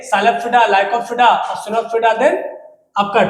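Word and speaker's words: Psilopsida: सी से साइलोप्सिडा, इसको P silent है, साइलोप्सिडा पढ़ा जाता है।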